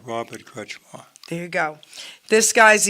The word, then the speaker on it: Kretzschmar: don't want to say that this gentleman's last name wrong so Robert tell everyone your full name crutchmore Robert crutchmore there you go this guy's easy I could